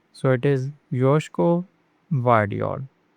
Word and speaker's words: Josko Gvardiol: The G in Gvardiol is kind of silent, so it is Josko Gvardiol. Josko Gvardiol.